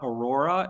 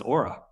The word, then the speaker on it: Auror: name comes from but is not Aurora it is not rrr I hear every now and then like people's mouth I don't know it's Aura yeah it's Aura what you know you